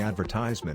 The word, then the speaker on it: advertisement: Insert the advertisement in the weekly. Emphasize vert, and not eyes.